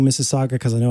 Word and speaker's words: Mississauga: or you have brilliant thoughts like Dave from Mississauga, email. You see how I keep saying Mississauga because I know how to pronounce it now.